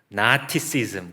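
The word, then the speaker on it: Gnosticism: 것이 바로 영적인 지식인데, 이 영어로 발음을 하자면 쥐자가 묵음이어서 나티시즘, 그냥 이렇게 이제 발음하기도 합니다.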